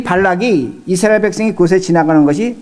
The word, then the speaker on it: 발락: 발람하고 발락이 발음이 비슷하기 때문에 잘 들으셔야 돼요.